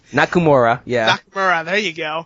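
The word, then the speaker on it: Nakamura: is the IWGP Intercontinental title match between shizuki nakuma um I butchered the out last name nakura yeah nakura there you go yeah is uh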